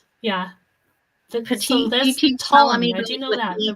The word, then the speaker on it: Ptolemy: So there's Ptolemy. I do know that, but we don't. Right. So you don't pronounce the P.